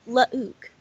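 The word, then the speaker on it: Luuke: clone wait a minute his his name is pronounced lauk oh never mind okay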